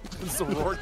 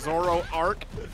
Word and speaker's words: Zoroark: Zorak, Zoroark. Because it's supposed to rhyme with dark, apparently.